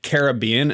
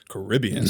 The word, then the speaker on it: Caribbean: I mixed the two pronunciations. Some people say Caribbean, and some people say Caribbean.